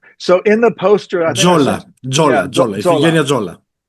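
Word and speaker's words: Tzola: L A She's So in the poster I Jola Jolina Jola.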